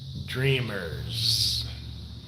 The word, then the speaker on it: Dreamers: With a Z. Stardust Dreamers. That's how I pronounce her name. I don't say Dreamers. It's Dreamers.